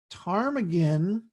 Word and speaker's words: ptarmigan: Oh Suzy says the ptarmigan is the next peak critter only the P is silent okay I don't know